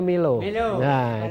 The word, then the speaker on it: MULO: tamilo ya iya ya Milo ya tulisannya mulut Tapi bacanya Milo Setia mungkin nanti pak